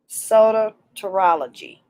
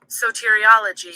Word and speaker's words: soteriology: hitting the pronunciation again sodatorology no i said it wrong again soteriology soteriology so tear okay